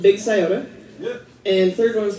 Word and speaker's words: Scioto: Scioto, Ohio. It rhymes. Scioto, Ohio.